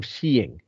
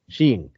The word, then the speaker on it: skiing: you put that one on there art of sheing as it it's pronounced because they they they put the uh how to spell it sh or uh pronounce it s he NG G Shing so uh it's goofy it's you know it's